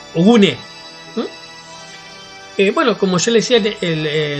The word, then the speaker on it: Ogun: Ogune es la pronunciación correcta. Ogune.